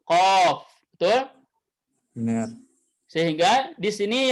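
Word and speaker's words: قاف: Dengan 3 huruf, yaitu Qaf, Alif, kemudian Fa. Kan gitu? Dibacanya Qa, kemudian Fa-nya sukun. Qaf.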